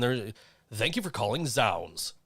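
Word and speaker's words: zZounds: know what trips me out is is sounds is spelled z-z-o-u-n-d-s and i always i was z-sounds until i had to call them one day and they're thank you for calling sounds like right wait calling who what sounds is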